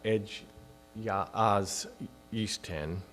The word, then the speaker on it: Egy az Isten: for early Unitarianism, and which in Hungarian is pronounced Egy az Isten, which translates to God as one, and then